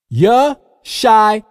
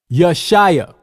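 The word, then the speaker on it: ישעיה: Yeshaya, Yeshaya.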